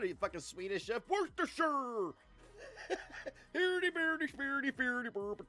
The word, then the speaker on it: Worcestershire: Worcestershire. What are you, fucking Swedish chef? Worcestershire.